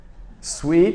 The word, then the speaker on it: sweet: how do you say dou C suite ouch sweet huh ma baby the dose sweet is describing a sweet drink right sweet is